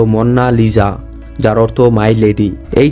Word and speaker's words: Mona Lisa: কোন ছবির জন্য হয়নি মোনালিসা একটি ইতালিয়ান ভাষা যার উচ্চারণ হলো মন্না লিজা যার অর্থ মাই লেডি